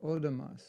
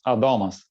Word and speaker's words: Adomas: So here we have Odamas. Odamas? Is that how you pronounce it? It's Adomas. It's the second syllable is pronounced.